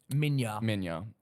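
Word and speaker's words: Minilla: Minya. Spelt Manila, but Okay, but pronounced Minya.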